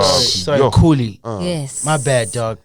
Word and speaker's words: Khuli: He always says Khuli, and it's a KH. Sorry, Khuli.